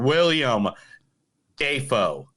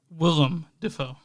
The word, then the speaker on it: Willem Dafoe: William Dafoe. Willem Dafoe.